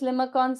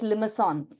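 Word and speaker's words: limaçon: I think it's it's it's pronounced as limoson. Okay. Okay. I'm not able to get to it because I am so used to pronouncing as pronouncing it as limicon.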